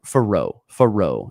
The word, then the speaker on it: Farrow: Yeah, Farrow, as in like Farrow Field at Missouri.